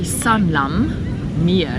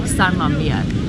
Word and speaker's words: San Lameer: We spoke about it earlier, like the way we pronounce it, we say Sanlam Mir, that is how we thought it was. But if you look at the spelling, it's like S-A-N space Lamir, like Sanlamir.